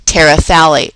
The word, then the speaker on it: terephthalate: Polyethylene Terephthalate. Remember that pH is silent.